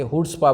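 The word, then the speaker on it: chutzpah: विराट कोहली की फॉर्म, और यादव कौन, सूर्य कुमार यादव की हुड्सपा, इसे हुड्सपा बोलते हैं, सी साइलेंट होता है, हुड्सपा का मतलब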